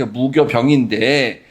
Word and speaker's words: 무교병: 그니까 교 그 무교 병인데 저 교자가 원래는 효자예요. 효 지금 읽으면 저 효라고 발음해야 됩니다. 이거 사실 교효자 교자라고 하니거나 병자 되게 어려운데 잘 안 쓰는 그러니까 원래 이거 발음대로 무효병이에요. 그래서 효소 할 때 이효를 쓰는 효자 쓰는 거예요.